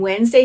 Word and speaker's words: Wednesday: And Wednesday has 2 syllables.